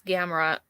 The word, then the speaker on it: Gamrot: I forgot how you say it, but it's Gamrot. Gamrot. Yeah. Versus Diego Ferreira. Yeah. 17-4 for Ferreira, and Gamrot is 19-1 and 1 no contest. Ferreira's coming off of a loss. Gamrot with the win.